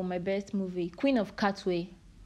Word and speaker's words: Katwe: Queen of Katwe. Katwe, right? Yeah, Katwe. That's it. Yeah, Queen of Katwe. That's the pronunciation, I think.